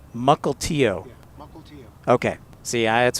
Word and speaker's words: Mukilteo: How do you pronounce, is it Mukilto? No, it's Mukilteo. Mukilteo.